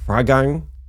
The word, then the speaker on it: Freigang: Well, Oliver Freigang, you got to correct me on the pronunciation.